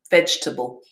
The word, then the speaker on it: vegetable: we should have had three syllables as well vegetable and our first our stress on the first syllable vegetable yeah over here we've got